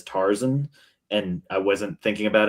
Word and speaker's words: Tarzan: Sometimes In the same way it's also Tarzan and not Tarzan. Oh is it really Tarzan? It's Tarzan, but I don't like that.